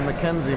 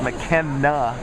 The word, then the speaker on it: McKenna: So I've been calling her Mackenzie most of the weekend, and she finally told me about 2 hours ago that you're saying my name wrong for the entire day, and it's McKenna to be clear.